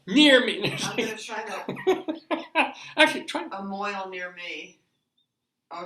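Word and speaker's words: mohel: hey a mile near me actually try a Moyle near me oh it's giving them all hold on yeah you gotta spell it yeah m-o-h-e-l m-o this is gonna be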